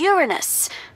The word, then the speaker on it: Uranus: they're all up in Uranus that's funny I don't mean to be a prude but please no jokes about Uranus besides the proper pronunciation is Uranus it's a ductile sorry